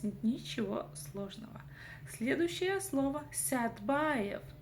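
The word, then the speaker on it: Сәтбаев: Следующая слово Стбаев. Стбаев. Вообще я живу в городе Садпаев, но по-захски Садпаев пишется как Стбаев. Вот такая вот магия.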